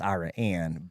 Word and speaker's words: Iraan: Jared so now it's iraan yeah so it's yeah it's actually pronounced Iran but I'm too hickish